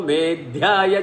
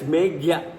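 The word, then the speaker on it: मेघ्य: It is not pronounced Medhya, it's Meghya. Some books maybe that straight line may not be there over the Ka, so it becomes Dha. It is Megha.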